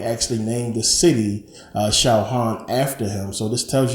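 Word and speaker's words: Sahagún: by Bernardo D San they uh pronounce it shaan you know kind of like lasagna you got that g that makes a different sound but shaan a uh Franciscan monk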